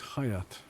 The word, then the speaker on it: Hayat: My name's Hayat. Hayat. I wanted to offer my condolences. Thank you. I would have pronounced it Please, Chajat.